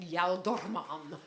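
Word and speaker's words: ealdorman: If I used actual Anglo-Saxon pronunciation, if I said Yaldorman, I mean, it's just ridiculous.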